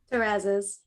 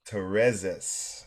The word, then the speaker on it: Terrazas: Terrazas. Terrazas. Aubrey Mhm. Terrazas.